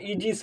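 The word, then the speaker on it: aegis: यदि किसी वर्ड में ए ई क्या होता है, एक साथ आ जाता है, तो इसी ए ई को बड़ी ई के रूप में प्रोनाउंसिएशन कर दिया जाता है। क्या किया जाता है? बड़ी ई के रूप में प्रोनाउंसिएशन कर दिया जाता है, तो यह इजिस हो जाएगा।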